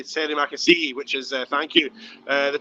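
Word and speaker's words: terima kasih: It sounds like a guy who might have played for Liverpool in the 70s. And that's how I remember how to pronounce Terry Makassi, which is Indonesian for thank you.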